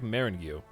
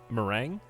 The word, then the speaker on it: meringue: because it's cookies normally it looks like marangu is that how you say it is it that easy just marangu meringue the hell is it